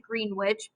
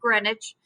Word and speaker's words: Greenwich: called the greenwich meridian now i know it looks like green witch but they're british and they have to make it complicated it's pronounced greenwich okay and it goes